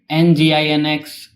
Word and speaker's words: Nginx: It is spelled as Nginx but pronounced as Nginx.